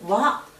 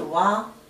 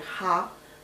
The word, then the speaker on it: は: 和、读音是和。因为是助词的时候，这个读音不是哈，就是和。